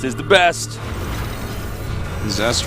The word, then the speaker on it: Zest: get up down here zest is the best zest rhymes with best that's that guy's a